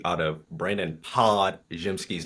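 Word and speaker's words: Podziemski: D out of Brandon pod jimsky name pod jimsky his nickname is literally pods and you said Brandon PO jimsky with a J this is becoming a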